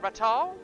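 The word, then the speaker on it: Ratau: Is that Ratal? Is that how you say it? Or Ratu? Fear not! I am Ratu.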